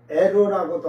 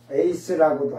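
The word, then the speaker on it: εἰς: 에이스를 어떤 목사님들은 에로라고도 할 거예요. 같은 단어예 그냥 그렇게 에로라고도 발음을 하고 에이스라고도 하니까 그 하지만 에이스라고 하는게 정상이에요. 어, 지금요 단어에서도 요걸 그냥 요렇게 읽어도 그 에이스라고 읽어요.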